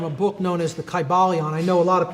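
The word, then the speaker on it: Kybalion: y sounds you know it would have been a long i sound chi ba leon and every syllable would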